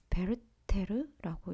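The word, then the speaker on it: Werther: 그래서 신락원 그다음에 루타르크스 영웅전이라는 책이 들어 있었고 그리고 이게 W인데 베르테르라고 읽더라고요. 그래서 베르테 절 우리나라 번역보는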